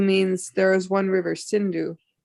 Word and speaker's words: Sindhu: Hindu means there is one river, Sindhu. The Mohammedans, they pronounce Sa as Ha.